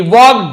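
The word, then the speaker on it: walked: Slowly धीरे से ही वॉक्ड deeper into the forest. वो वॉक्ड यानी गया चला तो एल साइलेंट होता है। वॉल्क्ड नहीं बोलेंगे।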